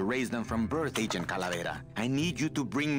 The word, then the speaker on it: Calavera: It's kind of fun to roll your R's or just do that. I don't even know what to call that. Like the difference between Calavera and Calavera, you know?